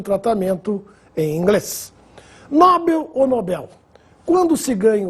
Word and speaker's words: Nobel: ganha o prêmio é Nobel Esse é o nome do Sueco que nos deu o prêmio da tão distribuído até hoje Alfred Nobel portanto sem acento não existe a forma nóbel como Alguns falam oceânia Oceania já ouvi